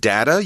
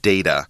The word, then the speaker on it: data: Notice Angeline used the word data. You can also hear people pronounce it data. And that's both of those are totally acceptable.